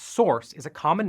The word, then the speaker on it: SRC: as a reusable module SRC pronounced source is a common name